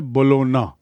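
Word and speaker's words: Bologna: उच्चारण है बोलोना। जी silent and बोलोना इज in Italy.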